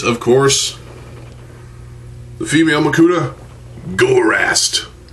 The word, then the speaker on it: Gorast: course the female makuda gorast I pronounce it as gorast because Gore and ass I don't know um